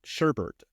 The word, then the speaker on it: sherbet: But I think everyone universally calls it sherbet.